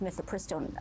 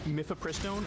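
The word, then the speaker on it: mifepristone: saw happen in this myth pristine ruling then I believe that mythopristone okay I have no doubt she's saying it correctly and I was saying it incorrectly this entire time myth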